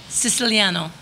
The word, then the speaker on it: Siciliano: Can you pronounce it for me? It's Siciliano.